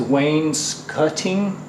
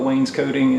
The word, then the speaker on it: wainscoting: up the pronunciation is Wayne's cutting cut like a short u but I call it wainscoting and most of the people I know around here call it wainscoting some people call it wainscotting anyway we're going to